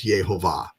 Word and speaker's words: Yehovah: manuscripts right Hebrew manuscripts you will see the pronunciation clearly with the vow pointers and everything as yehovah yah okay uh you know